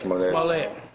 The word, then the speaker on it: Smollett: Jesse, how you pronounce his last? Jussie Smollett. Yes, Smollett.